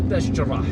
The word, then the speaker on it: Bachdjerrah: The pronunciation, the correct pronunciation is Bachdjerrah. I'm just using the local pronunciation here, because Algiers residents have their own pronunciations.